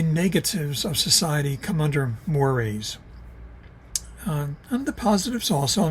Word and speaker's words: mores: I know it's spelled mores, and there should be a little symbol over the E. It's not mores, it's mores, cultural mores.